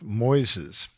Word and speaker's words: Moises: recent basic conference and it's called Moises spelled like noises but with an m and it uses artificial